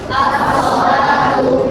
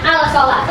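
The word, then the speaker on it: الصلاة: As-sholatu. Bacanya al-sholatu atau al-sholatu. As-sholatu. Lamnya ini tidak dibaca langsung masuk ke huruf shol.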